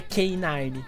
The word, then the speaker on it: K9: Quantos anos você tinha quando descobriu que os policiais caninos se chamam K9 porque em inglês a pronúncia é K9?